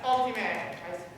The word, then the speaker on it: optime: You'll just drop off that ending, add a long E every time. So optime, right? If you say something, if you do something very well, the best, optime.